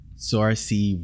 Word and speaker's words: Saoirse: Saoirse Ronan. Yes, it is. There you go. Saoirse Ronan.